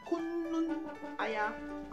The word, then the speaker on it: Kunu Aya: But the thing is, I got to know how to pronounce it properly last night, and I heard it's called Kunu Aya.